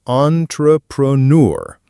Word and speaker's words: entrepreneur: The correct pronunciation is entrepreneur. The French origin gives it that distinct aw sound at the beginning, and the stress falls on the last syllable.